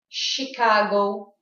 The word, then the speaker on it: Chicago: And don't think that every word that has a CH has a ch sound.